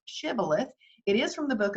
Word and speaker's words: shibboleth: shabolith is is a hebrew word it's actually pronounced shibboleth it is from the book of judges and